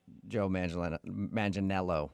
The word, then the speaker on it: Joe Manganiello: Because we talked to him, and he told us that a lot of people say he looks like Joe Manganiello, right?